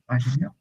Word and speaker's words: ingénieur: Médecin, enseignant, enseignant, avocat, avocate, masculine féminin, ingénieur।